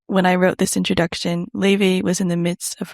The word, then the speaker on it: Laufey: The link leads to a website with one video in which she pronounces her name, which is notoriously mispronounced, correctly. While this billboard doesn't directly promote Lay May's music, it does something better.